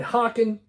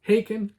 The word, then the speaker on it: Haken: Fauna, by Hawken, all right? Or I should say Haken, like bacon.